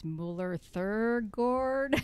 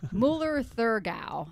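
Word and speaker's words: Müller-Thurgau: It's Müller Thurgard. I always forget how to pronounce. Müller Thurgau would be it.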